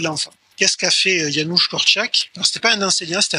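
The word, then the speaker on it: Korczak: conseils coopératifs c'est yanouche corak ceux qui veulent écrire corak ça s'écrit k r CZ AK k ça ça s'écrit pas du tout comment ça se se prononce c'est le pédagogue père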